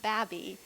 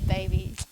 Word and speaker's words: BABii: I love it so your name is pronounced babby rather than baby either way I don't